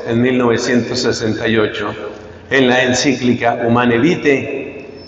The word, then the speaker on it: Humanae Vitae: 1968 en la encíclica humana vite que se escribe humanae vitae los anticonceptivos separan en